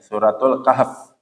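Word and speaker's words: سورة الكهف: alkahf alkahfi atau alkahf alkahf itu harusnya bacanya suratul Kahf ya Nah dalam surat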